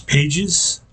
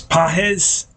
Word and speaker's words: Pages: we're doing now uh I've been calling a guy in center field for the Dodgers pages and his name is PES yeah I guess it's a Spanish pronunciation I was not aware